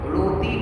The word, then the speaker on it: روٹی: جیسے کہ روٹی، تو یہ روٹی یہ اردو لفظ ہے، یہ اردو ورڈ ہے روٹی، اور یہ مجہول ہے. اور اگر اسی کو عربی میں پڑھیں گے، معروف پڑھیں گے، عربی لہجے میں پڑھیں گے، تو کیا پڑھیں گے؟ روتی پڑھیں گے. کیا پڑھیں گے؟ روتی. تو روتی نے روٹی میں فرق ہے نا.